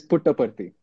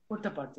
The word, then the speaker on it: Puttaparthi: Okay, so he's acted during his school days in Puttaparthi. Am I right? Did I pronounce that right? Yeah, it is Puttaparthi. Puttaparthi.